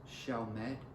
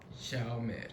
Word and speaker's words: Chalmette: It's pronounced Chalmette. Chalmette. Yeah, but it's not like Shell, like Shell. Gas station Shell. Shell. It's Shell, like with a C, CHAL. Chalmette.